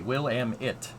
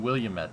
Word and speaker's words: Willamette: Exactly, Willamette. Exactly, that's how you say it. I was saying Williamette all the time, and it was not, that's not, yep.